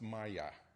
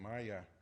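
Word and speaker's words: Maja: And that's pronounced Maya, m a j a, Maya.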